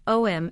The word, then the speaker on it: Om: also spelled as aom pronouncing om involves a progression through the three sounds of aoom unlike other words the